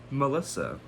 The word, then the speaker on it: M3LL155X: Only a year later, Twigs released her third EP, M3LL155X, pronounced easily as Melissa.